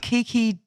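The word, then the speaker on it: Keke: Nico's dad interestingly though Kiki raced for a different I think it's pronounced as K Ki KI I'm sure a finished person it's prob it's probably Kiki like you said we just annoyed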